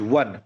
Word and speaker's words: one: So the correct technique to read it one is one, not un.